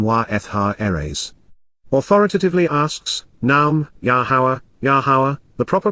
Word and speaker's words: Yahowah: Authoritatively asks, Naum, Yahowah, the proper pronunciation of Yahowah, our Eloah, God as directed in his Torah, teaching regarding his Ha-Yeh, existence and our Shalom, restoration.